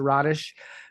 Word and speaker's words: Rodish: It's Rodish.